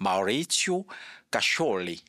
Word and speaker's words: Maurizio Cascioli: Nous sommes avec monsieur Maurizio Cascioli. Ça, c'est la prononciation française, mais il y a une prononciation italienne. Maurizio Cascioli.